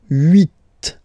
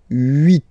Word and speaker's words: huit: Okay, then here final T is pronounced, so huit, huit. Remember in French this H letter here, okay, doesn't exist phonetically, so we don't really pronounce it, okay, so if you